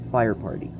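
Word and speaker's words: Feuerpartei: And so this place is called Fire Party. It's pronounced the same way in both German and in English.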